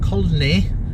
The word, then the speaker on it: Colne: C-O-L-N-E, Colne, pronounced Colne.